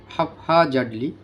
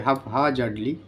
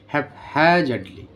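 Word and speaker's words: haphazardly: দুইটা উচ্চারণ একটা হচ্ছে হাফ হা জার্ডলি হাফ হা এইচ এর উপর একটু জোর হবে হাফ হা জার্ডলি অথবা হ্যাভ হ্যাজার্ডলি এলোমেলো ভাবে হ্যাম্পারিং ক্ষতিগ্রস্ত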